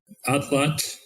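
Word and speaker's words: atlatl: If you make that sound by putting the tip of your tongue at the roof of your mouth and blowing air out around the sides of your tongue.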